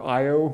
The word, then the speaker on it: Io: you I pronounce it you because that's the way the Greeks say it you'll probably hear Io quite frequently but I've